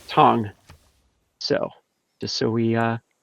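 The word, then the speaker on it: Thành: i've been told that the specialty district is pronounced tong so just so we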